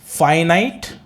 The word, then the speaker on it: finite: Now write down, हमारा topic है फाइनाइट, फिनिट नहीं बोलेंगे ऐसे, pronunciation is फाइनाइट, फाइनाइट verbs, verb नहीं verbs, फाइनाइट verbs and नॉन फाइनाइट verbs.